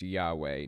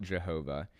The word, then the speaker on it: Yahweh: what the Tetragrammaton translates to the name is pronounced Yahweh not Jehovah but they'll claim that Jehovah is the modern